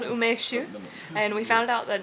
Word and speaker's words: Umeshu: Umeshu? Okay, see, I've got that one. Sake? Sake, yeah. Okay. Umeshu? Okay, am I going? Yeah, you've been going for a while. It's called umeshu, and we found out that it's 15 years old.